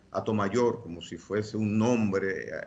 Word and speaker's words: Hato Mayor: Entonces, lo del nombre de Atomayor, que lo pronunciamos de esa manera, Atomayor, como si fuese un